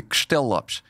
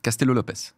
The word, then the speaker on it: Castello-Lopes: Alors, si tu veux vraiment le prononcer à la portugaise, parce que c'est un mot portugais, c'est Castellopes.